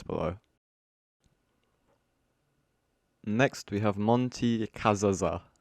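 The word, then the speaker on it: Cazazza: Next, we have Monty Kazaza. Kazaza. Yep, that's how you say it, I'm pretty sure.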